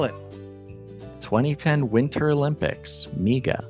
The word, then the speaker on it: Miga: Miga. Spell it.